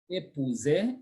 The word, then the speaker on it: épouser: Épouser, époux. OU is ou, so we say épouser, to marry.